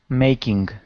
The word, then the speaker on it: making: the word making okay give me a long a here instead of me making me it's May making okay a making making